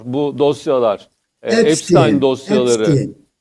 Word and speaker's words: Epstein: Eee, Epstein diye mi okunuyor bu dosyalar? Epstein dosyaları. Epstein.